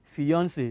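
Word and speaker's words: fiancée: the next word fiance i know you are surprised the same pronunciation yes but different spelling fiance male is spelt f-i-a-n-c-e why that of a lady you add an extra e fiancee they are pronounced the same way all right and woo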